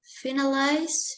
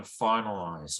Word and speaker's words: finalize: Final, finality, finalize, finalization. More stress on the first syllable in finalize, right?